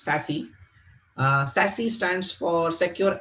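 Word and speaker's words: SASE: devices so sassy uh it's s e but pronounced sassy uh sassy stands for secure access is service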